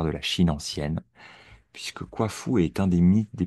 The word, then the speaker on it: Kuafu: Kwafu, ça s'écrit Kuafu.